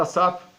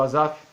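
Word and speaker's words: Asafe: Este homem chamado Asaf, ou Asaf, como é a pronúncia mais certa.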